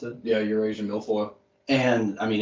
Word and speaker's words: Eurasian milfoil: to pulaski and they got that was it erasing milfoil yeah repronounce it yeah eurasian milfoil and i mean it's thick like there was